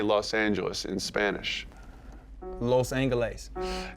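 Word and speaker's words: Los Ángeles: Los Angeles.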